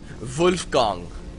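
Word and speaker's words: Wolfgang: German male name or it's properly pronounced in its German pronunciation vulf gong that's right boys and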